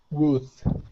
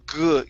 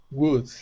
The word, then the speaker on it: wood: Wood. Okay, almost. So right now you're still saying good. You're pronouncing a G. All right, so start off with an oo. Okay, so Wood.